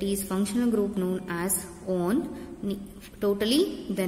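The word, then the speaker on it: -one: Only the suffix word get changed as OL, propanol. Children, now come to another fun functional group, ketone. Here the suffix word is taken, that is on, O-N-E, one, that is usually pronounced that one,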